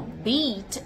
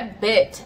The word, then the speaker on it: beat: Primeira coisa é a diferença da pronúncia do i e do a. Então, beat around the bush. Não é bit around the bush.